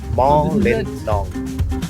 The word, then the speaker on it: Mawlynnong: मॉ लिन नोंग, ये actual pronunciation mall in long. मॉ लिन नोंग, ऐसे ब्रेक करके बोलना पड़ता है।